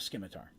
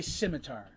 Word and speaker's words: scimitar: they prefer but yes i call it a scimitar i know some people say scimitar i think scimitar sounds better so yes i pronounce the c in scimitar i've been mocked for